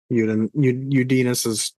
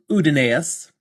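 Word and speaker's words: Uddinas: Udinus. Anytime I see the double vowel, I pronounce them both.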